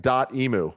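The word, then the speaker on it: Dotemu: the one thing is dotemo is pronounced dot imu like the large bird so there we go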